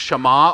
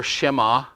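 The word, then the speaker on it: שְׁמַע: Listen or hear and obey, I put in parentheses, reference 8085 in Hebrew, It's pronounced Shema or Shema. We often say Shema.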